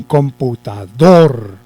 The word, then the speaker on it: computador: computador un computador cierto ahí lleva el acento por lo tanto esa es la última cita porque miren que después de allí ya no tenemos más sílabas quiere decir que el computador lleva el acento en la última sílaba lo cual significa que